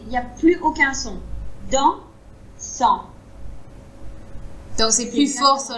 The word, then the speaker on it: dansant: Et nous, quand on le prononce, on s'arrête vraiment après le son en. Il n'y a pas de petite vague après.